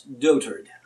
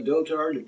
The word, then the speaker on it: dotard: look up what a dotard was, and I've heard it pronounced different ways. Dotard, in British it's dotard. Anyway, a dotard is a person in dotage.